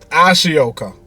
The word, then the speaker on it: Ashoka: called, I'm going to try and pronounce this properly, Shioka, or Ashoka. Yeah, Ashoka.